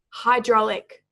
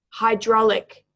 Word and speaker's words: hydraulic: before it's pronounced hydraulic hydraulic hydraulic so the emphasis is on the second syllable of the three there we also have